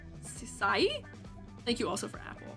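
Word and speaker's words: Syiec: S Y I E C Sai.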